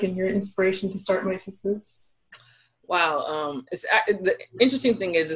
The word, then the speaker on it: MaituFoods: Starting out, I think, Giovanna, one of the things I'm really excited to talk to you about is in My Two Foods. Am I pronouncing that right?